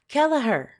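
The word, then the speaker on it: Kelleher: Got it everybody. Kellaher. I was wrong the whole time. People were telling me the wrong things the whole time. I've never heard of her. So that's how you say it.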